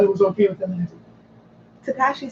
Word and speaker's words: Tekashi: How do you pronounce it? Tekashi.